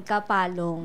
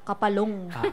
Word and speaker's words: Kapalong: Kaya ganun po siya bigkasin, Kapalong. Kapalong. Hindi siya matigas na Kapalong.